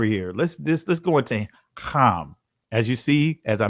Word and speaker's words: Ham: let's let's go into com as you see as I mentioned earlier it's pronounced calm let's go to Genesis chapter 10 verse 6 to 8. and the sons of calm we have Kush Miss